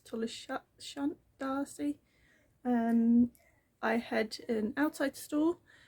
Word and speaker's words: Tolleshunt D'Arcy: how to say it, I say Tullis Hunt Darcy, I think it's Tullis Shunt Darcy.